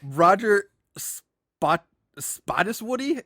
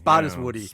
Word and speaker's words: Spottiswoode: Roger Spottiswoode. It's spelled Spottiswoode. Spottiswoode. Spottiswoode.